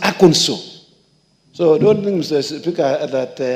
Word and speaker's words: Arkansas: If you say Arkansas, they tell you, no, it is wrong. It is pronounced Arkansas.